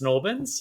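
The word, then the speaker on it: St Albans: Um St. Orins gets pronounced Snorbins.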